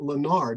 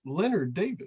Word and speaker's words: Leonard: since you're correcting yourself it's not Lonard it's Leonard thank you correct you I